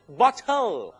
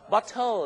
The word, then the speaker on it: bottle: ครับ ขวด เนี่ย ก็ ไป ออก เสียง ว่า Bottom ที่ แปล ว่า ก้น อีก โอ้ นะ ครับ ผม ต้อง ออก เสียง ว่า bottle bottle นะ ครับ bottle ต่อ ไป นี้ ไป เวลา